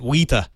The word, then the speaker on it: Weta: w-e-t-a is it that i think if you're a new if you're a kiwi you'd say it wita well i i think